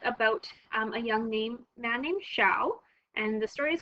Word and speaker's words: Xiao: Xiao, whose name is pronounced Xiao, as in shower, and his brother both work at a factory that produces machines that make ice cream.